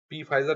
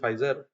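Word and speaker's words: Pfizer: company है जो दोस्तों पी फाइजर में बोल दिया ऐसे basically it इज फाइजर सो पी silent so इट इज 25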